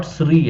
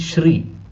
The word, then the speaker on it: Shri: s it is not SRI actually it is Shri uh because Sanskrit uh language uh the word is Shri the pronunciation is sha not s not sa so if there is